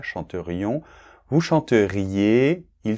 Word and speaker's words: chanterions: Donc, je chanterais, tu chanterais, il chanterait, nous chanterions, attention on doit bien entendre le i là, chanterions, vous chanteriez, ils chanteraient ,-ENT, c'est muet dans la conjugaison, d’accord ?